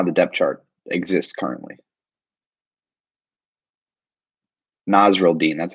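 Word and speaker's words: Nasirildeen: Nasruddin, that's how you say it, Nasruddin.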